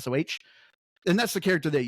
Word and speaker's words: Soh: spirit guardian with her named So. I believe that's how you pronounce it, SOH.